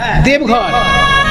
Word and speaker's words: দেওঘর: এই হ্যাঁ, দেবঘর, আর সংস্কৃতে বলা হতো দেওঘর, দেবগৃহ। দেবগৃহ, সেখান থেকে বাংলা হিন্দিতে দেবঘর, তারপরে এখন বটা ওতে পরিণত, হিন্দি উচ্চারণে দেওঘর হয়ে গেছে।